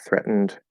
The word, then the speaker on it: threatened: The E following N is silenced, and you need to make a nasal sound and then the stop D.